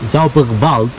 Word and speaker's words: Zauberwald: They pronounce it, I guess, Zauberwald. Maybe I'm wrong. The W they pronounce here, they pronounce it here V. V as in vector.